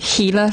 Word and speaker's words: Gila: the actual Gila lizard, Except they pronounce it Gila.